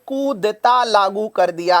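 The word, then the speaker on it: coup d'état: यस, आगे बढ़ते हुए सबसे पहले मैं आपको ये कूदेता वर्ड समझा देता हूं, क्योंकि म्यांमार में 1 फरवरी से यही लागू हुआ है।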